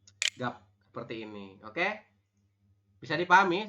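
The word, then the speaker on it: 값: ada dua teman-teman G Jadi kalau ada EMP huruf seperti ini kan ada empat huruf ya gek vokal a b dan Ben engak ini and bacanya hanya tiga saja tiga huruf huruf terakhir tidak dibaca jadi kita membacanya gimana dibacanya hanya gap seperti ini Oke bisa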